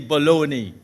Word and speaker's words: bologna: GNA you are crazy how B o logn a could be baloney tell me but that's